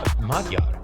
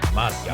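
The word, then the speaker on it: Magyar: Peter Majiar. Majar pronounced I know it sounds it looks like a G but it's pronounced like a D. Madar Madar Madar Madar Peter Madar.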